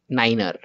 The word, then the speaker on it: niner: what you will call you will say it as runway zero niner in the exam they